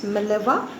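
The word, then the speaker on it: Mileva: write her name maleva the pronunciation is maleva marik m-a-r-i-c he met a girl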